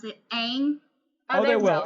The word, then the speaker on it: Aang: And they better, I swear, they better pronounce it Aang.